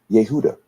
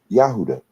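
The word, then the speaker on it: יהודה: of Cameroon is Hyundai Judah in Hebrew is pronounced Yehuda or yahuda depending on who you ask in Congo right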